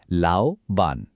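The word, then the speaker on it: 老板: এর উচ্চারণ হলো লাওবান।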